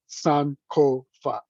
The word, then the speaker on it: Sankofa: And as you see, it's a 3-syllable word, Sankofa.